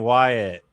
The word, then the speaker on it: Wyatt: How do you pronounce my name? Wyatt.